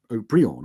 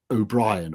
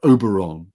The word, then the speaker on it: Haut-Brion: You tried this new style of Bordeaux, which was Haut-Brion or O'Brien, or, they came up with all kinds of Oberon, sort of mispronunciations of it.